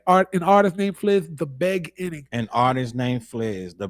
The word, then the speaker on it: The Beg Inning: An artist named Fliz, The Beg Inning. An artist named Fliz, The Beg Inning. It looks like it's beginning, but it's not. You gotta pronounce it's Beg-Inning.